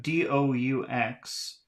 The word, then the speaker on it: doux: And then we have D-O-U-X, which should be pronounced do.